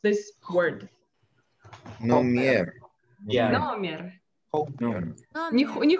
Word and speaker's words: номер: How do we pronounce this word? Номер. Номер. Не хомер, номер.